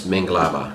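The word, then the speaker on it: Mingalaba: And in Burmese, it's Minglaba.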